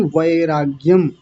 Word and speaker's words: वैराग्यम: वैराग्य नहीं वैराग्यम वय वय ऐ की मात्रा है तो वैराग्यम ऐसा बोलना है हो गया 15वा सूत्र